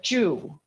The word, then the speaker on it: Zhu: Zoo as as uh Jew so it's pronounced like Jewish yeah true okay true